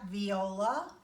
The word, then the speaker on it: viola: little bit bigger and a little bit lower viola can everybody pronounce that viola some people try to call it a boy